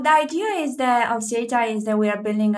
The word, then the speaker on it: Xata: So it's like data, but there are two pronunciations, Xata or Xata, depending Xata on where you live in the world.